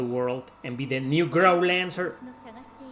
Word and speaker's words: Growlanser: Some people pronounce it as grow lancer. Growl lancer. I see grow as in grow as in the b the verb grow growing. Grow lancer. Right. That's what I do.